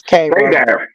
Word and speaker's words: Cairo: Cairo, however you pronounce it. It's Cairo.